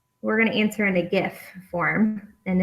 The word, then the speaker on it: GIF: gonna answer in a gift form and it is pronounced gif right hiding out there so